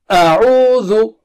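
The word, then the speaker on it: أعوذ: Bring the syllables of word closer, step by step, after you get control over their makharij and sifat. So we'll do it step by step. So repeat after me. A, ru, zu. A, ru, zu. Again. A, ru, zu. Again. A, ru, zu. And now let us bring them closer. A-ru-zu. A-ru-zu. A-ru-zu. A-ru-zu. And then let's recite the word.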